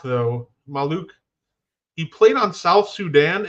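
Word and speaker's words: Maluach: the name because I wasn't sure how to pronounce it I did watch him play not necessarily an NBA player Kaman malok though maluk he played on South Sudan and he's committed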